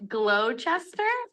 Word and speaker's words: Gloucester: I feel like there should be an H in here. And then I would know how to say it. Whoa, sister. Gloucester? Gloucester. Gloucester?